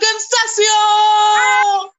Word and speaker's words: Concessao: She is a dancer, founder of Team Nach, a social media star, and my friend Nicole Concesio. First of all, have I pronounced your last name correctly?